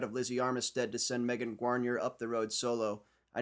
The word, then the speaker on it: Megan Guarnier: used the threat of Lizzie Armistead to send Megan Guarnier up the road solo. I know that's how she pronounces her name because I looked it up. My name is Megan Guarnier.